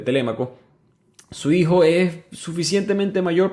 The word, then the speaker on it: Telémaco: lo voy a decir telemaco porque así lo aprendí en Maracaibo se pronuncia así pero se pronuncia correctamente telémaco su hijo es suficientemente